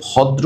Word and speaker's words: ভদ্র: ও মহোদয়গণ, আসসালামু আলাইকুম ভদ্র মহিলা ও মহোদয়গণ, নট লাইক দ্যাট আসসালামু আলাইকুম ভদ্র মহিলা ও মহোদয়গণ। অনেকে ভদ্র উচ্চারণ করতে পারে না, ভদ্র বলে, ভদ্র না, ইটস ভদ্র, রাইট?